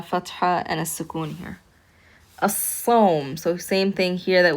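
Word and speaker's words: الصوم: Sad is a sun letter. Therefore, it's pronounced with a shadda, and we do not pronounce that lam here.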